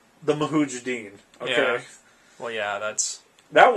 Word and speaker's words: Mujahideen: Look what happened in Afghanistan with the Mujahideen. I think I pronounced that correctly. Mujahideen, yeah.